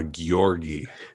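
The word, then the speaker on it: Gyorgi: the more mystical and i always say his name wrong so i'm going to ask you to say it it's the one with the g-y-o-r-g-i ah gyorgy that's how i've been saying that yes because you did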